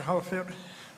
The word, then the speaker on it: Holofield: Pronounce my last name Holofield. Unless you live up north, then it's Holofield. Down south, it's pronounced Holofield. So. Yeah, because you're holy. But I'll answer you. Holofield. That's cool. Holofield. Yeah, he's holy. Holofield. Holy, just remember holy.